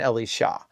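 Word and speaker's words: אלישע: it's not and so in Hebrew it's Eliya and Ellie Shaw so you can hear the accent falls on different syllables and in a ways that it's a little easier to distinguish them but in English if we say Elijah and Elisha it sounds almost like the same name so remember Elijah is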